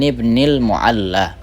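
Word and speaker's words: ابن المعلى: Kalau bacanya an abi said an abi saidin ibnil mualla qala apa kata eh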